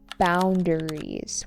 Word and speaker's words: boundaries: Boundaries with an emphasis on the first syllable.